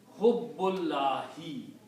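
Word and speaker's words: حُبُّ اللَّهِ: This dhamma changes into kasra, and then you pronounce them together. Hubbullahi.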